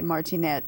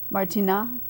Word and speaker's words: Martinat: Martinat is, I think, how you'd really say it, not pronounce the T, Martinat. But maybe they would say Martinet, kind of like the Americanized version of it, maybe.